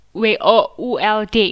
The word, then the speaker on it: would: W-O-U-L-D itu bacanya juga would.